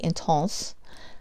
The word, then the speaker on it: intense: tons it's intense but you know the French say intense I'm not French okay